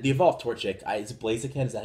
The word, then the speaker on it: Blaziken: And then the evolved Torchic, is it Blaziken?